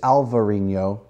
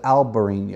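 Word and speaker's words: albariño: variations of spelling but it's alvar in yo he said alberini oh alright so and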